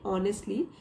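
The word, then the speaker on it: honestly: मी to tell ऑनेस्टली ये as silent है यहां पे ऑनेस्टली पढ़ेंगे ऑनेस्टली इफ आई had hope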